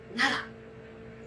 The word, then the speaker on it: 楢: すね、長と書いて奈良と読みます。